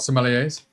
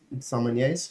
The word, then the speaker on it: sommelier: We are not, what are they called, sommeliers? Sommeliers, yeah. Is it sommelier? No, sommelier. It's sommelier? That's the official, like the French I pronunciation.